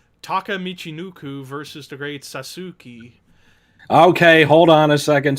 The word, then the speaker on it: Sasuke: It's the great Sasuke. Sasuke. Yous are silent in Japanese. Ladies and gentlemen, that's how you say it. Great Sasuke. Sasuke. Not Sasuke. Like not Sasuke.